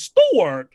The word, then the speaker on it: Stewart: jimmy store the way the way that jimmy stewart pronounces stuart is so different to the way i pronounce stewart like i spa i say like it's ch e-w-a-r-t stewart and he says store like it's like there's there's such a uh in there that new zealanders are